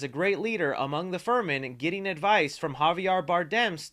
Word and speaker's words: Fremen: It should be Fremen, not Freeman. It's not Morgan Freeman, so that was a little weird.